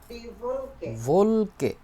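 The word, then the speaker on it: Wolke: এইটার আউটয়েস যার মানে কি বলে দেখেন তো ভোলকে দি ভোলকে উচ্চারণ করেন তো দিল ভলকে ভলকে হবে না ডবলিউর মত ইংরেজির মত হবে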